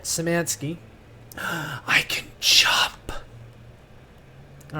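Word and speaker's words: Szymanski: I but yeah it's done by the same guy who did finger bones David simansky I learned that's how you say it samansky I can chop all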